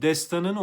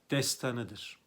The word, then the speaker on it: destanıdır: biliniyor yaygın yanlışlardan biridir destan kısadır arkadaşlar Destanı değildir destanıdır ama yaygın yanlış haline geldiği için Çokça da kullanılıyor kulakta bir dolgunluk oluştu bu sebeple sanki kısa okununca yanlışmış gibi gelebilir Ama doğrusu destanıdır destanını yazacağım bakınız Burada